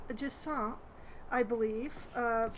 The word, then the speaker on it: Jusant: Uh, this game is called Jant, I believe. Uh, since it's a French word, I believe it's pronounced that way.